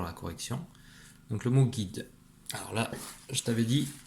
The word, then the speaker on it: guide: G et I ça fait Gui. D. Un guide. Avec le E à la fin. Le E muet.